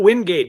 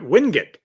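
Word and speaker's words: Wingate: Some of those are unique, strange, colorful, but yes, Winding. Not windgate, but Windut. That's that's how they say it.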